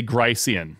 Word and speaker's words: Grice: So I pronounce Grice.